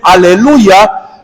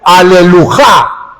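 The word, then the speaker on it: הללויה: Y estuvimos hablando de que en el hebreo no se dice aleluya, sino que alelujá.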